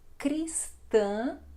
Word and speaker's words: Cristã: Bem, então a Páscoa é uma celebração Cristã, Cristã, nasal também este A final, comemorada anualmente no domingo de Páscoa. A Páscoa é considerada uma das festas mais importantes para os cristãos, cristãos, exatamente, não são "cristianos" "pero" é cristãos, cristãos, ok?